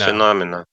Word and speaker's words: phenomena: it was the same with all other phenomena. Phenomena. How do you pronounce this? Phenomena, maybe. My version is Phenomena.